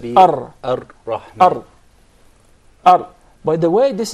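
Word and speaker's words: الرحمن: when we said that the unwanted repetition or rolling of the ra. So say Ar-Rahman. Actually, you pronounced several ra. It wasn't just one. It should said be Ar-Rahman.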